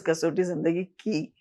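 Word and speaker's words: Kasautii Zindagii Kay: you remember casot Zindagi Papa made it instead of K I he made it K A Y. So the casot zindi K but it is pronounced as casot zindi key hats off to her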